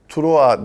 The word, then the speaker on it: Troyes: Troyes yazılıyor Fransızca okunurken. Troa diye takım, işte bu takıma gidecek.